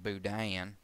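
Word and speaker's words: boudin: And the third type third type of budan rather is of southern variety or southern influence generally pronounced budian and and kind of a a multiple uh syllable application there.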